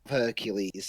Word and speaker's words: Hercules: um apparently i've heard there's two different pronunciations hercules there was that one i just said but it was also heracles is the actual greek name hercules is the